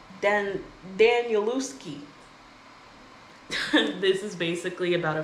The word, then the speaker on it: Danielewski: Mark Danielewski. Danielewski.